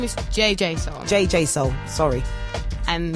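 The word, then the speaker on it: JJ Soulx: My name is JJ Soul. JJ Soul. Sorry. And it's with a silent X.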